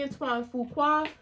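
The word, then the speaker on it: Antoine Fuqua: I'm, you know, shouts out to Antoine Fua, who that's how you, how you say his name, you know, and, um, he's always done dope stuff.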